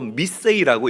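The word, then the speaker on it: μισέω: 그런데 여기에 등장하는 미워하다라는 이 단어는요, 헬라어로 미세이라고 읽고 발음을 합니다. 미세이. 이 단어의 사전적인 뜻은 조금 덜 사랑하다, 아니면 조금만 사랑하다라는 그런 의미를 가지고 있는 거예요.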